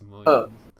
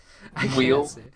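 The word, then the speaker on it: Muyl: Alex Moyle. Mule.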